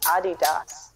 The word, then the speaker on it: Adidas: It's actually pronounced Adidas.